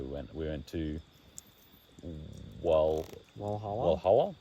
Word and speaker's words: Walhalla: We went to Walhalla. It's spelt with a W, but if you remove the W, put a V there. If you were German, you'd call it Valhalla.